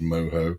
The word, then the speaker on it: mojo: It is pork which is marinated in moho sauce. It's spelled mojo but pronounced moho which is like citrus juice, garlic spices, oranges, blah blah blah blah blah and some herbs.